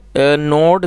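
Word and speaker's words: gnaw: पकड़ा हुआ था इट नोड द रोप और दोस्तों यह जो वर्ड है इसका मतलब था कुतरना जी एन ए डब्लू जिसमें एन साइलेंट है तो इसको नो पढ़ेंगे और यह पास्ट का है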